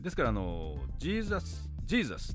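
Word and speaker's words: Jesus: ですけども例えばこの J の音はですねえなんと中東とかヨーロッパの北の方はですね Y の音で発音するからジェじゃなくてあのジーザスはねイーザスになっちゃうんですよだからジャパンは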